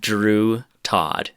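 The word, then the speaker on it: Droo Tawd: because this is important the movie is called drew todd it's spelled d-r-o-o separate word t-a-w-d yeah it's on youtube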